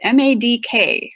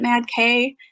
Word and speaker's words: MADK: So if you've been calling it Mad K, you know what? You can keep calling it Mad K if you like. It's hard not to. But technically, it is pronounced MADK.